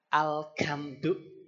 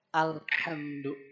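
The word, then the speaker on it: الحمد: Terus kalau orang Jawa contohnya itu kalau mengucapkan huruf ha. Kalau orang Sunda kan sama saja mau ha mau ha gitu we ha dibacanya. Kalau orang tua yang belum belajar tentu ya, yang dialeknya masih medok banget itu baca ha itu alkamdu. Betul Bapak ya? Alkamdu. Padahal harusnya alhamdu.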